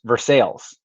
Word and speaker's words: Versailles: but versailles is pronounced versailles they pronounce the two l's for some reason i don't know if